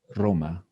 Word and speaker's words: Roma: when the word start with air ere i pronounce two times no wand two times roma roma roma later we're gonna practice more about